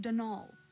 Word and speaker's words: Donal: Delaney hi Ellery Donald mind you there's no D at the end so it's pronounced denal that's the way you're